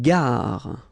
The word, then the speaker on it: gare: Une gare. Okay, remember when you get these G and A together, the sound is g, ga, ga.